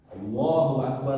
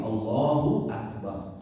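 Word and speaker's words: الله أكبر: Ya, pertama itu Allahu Akbar. Allahu Akbar dibacakan dengan digabungkan. Para ulama memperingatkan seringkali di antara kesalahan seseorang memperpanjang bacaan hamzahnya, yaitu Allahu Akbar.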